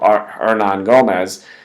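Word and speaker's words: Hernangómez: You have another guy they drafted, Juancho, Hernan Gomez. I think it's Hernan Gomez. I think the H is silent, not Hernan Gomez.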